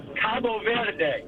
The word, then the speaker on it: Verde: If you Google it and you ask for the pronunciation, Verde. Like the bird, Verde.